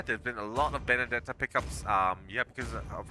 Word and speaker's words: Benedetta: experience all right baby benedetta benedetta I think would be the right way to say it yeah I haven't seen